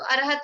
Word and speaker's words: अर्हत: अष्टाक्षरी में नमो अर्हत परमेष्ठिने, नमो अर्हत परमेष्ठिने, तो अर्हत में अ साइलेंट रहेगा।